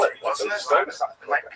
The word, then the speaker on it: Stuyvesant: Stuyvesant. Am I saying that? I don't speak American very well. And so the guy wrote on the YouTube channel, he says, you know, Americans know it's pronounced Stuyvesant.